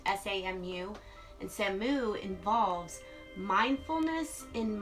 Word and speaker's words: Samu: I believe that's how it's pronounced, S-A-M-U.